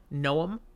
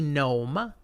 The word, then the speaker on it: Noam: Like Noah, Really? but with an M Two instead of an syllables? H. It could be gnome, but it's more I always Noam. read it as gnome. It's more Noam.